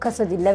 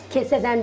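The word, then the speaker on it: quesadilla: söylediği isim çıkmıyor mu internet kas dille diye geçiyor aslında Hem tavukla yapılıyor hem biftek etiyle yapılan bir şey tavuk kasad dilla veya biftek kasad dilla diye geçiyor keseden değil yani acaba yanlış mı telaffuz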